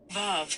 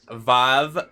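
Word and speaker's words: ו: Vav can be pronounced like the V in victory, the O in home, or the U in moon.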